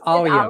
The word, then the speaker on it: Alia: Make sure you pronounce her name correctly. It is Alia.